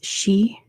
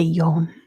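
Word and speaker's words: 四: It's because the word for four, the number four is she, which sounds like the word for death, which is also basically she. So, usually people say yon instead of she, just so it doesn't sound like death.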